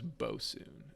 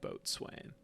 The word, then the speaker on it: boatswain: pronounced okay so that that person's name is bo soon not boat swain and look at me